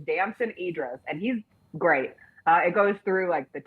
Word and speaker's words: Damson Idris: I've gotten his name wrong every single time I've said it, but it's Damson Idris, and he's great.